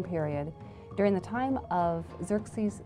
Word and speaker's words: Xerxes: His Persian name, in Old Persian, which is his original native language, is Shayarsha. Now that was hard for the Jews to pronounce, so they said Ahasuerus. We know him as Ahasuerus. And the Greeks said Xerxes, which is Xerxes, okay?